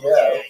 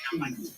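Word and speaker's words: Kyiv: and Khazar migrations, specifically to the region of Kiev, or Kiev, as they say nowadays in English. Actually, let's clarify that for a second. Kind of a weird thing. When you listen on the radio, everybody says Kiev.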